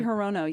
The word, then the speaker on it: Hirono: Mazie Hirono, is that how you pronounce her last name? Mazie Hirono, yes.